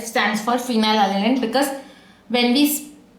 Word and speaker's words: phenylalanine: F stands for phenylalanine because when we pronounce phenylalanine, the word PH is pronounced as F.